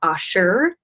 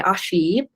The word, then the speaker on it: ashi: for acupuncturists they use the term Asher and that's how you say it some people say Ashi and so that's the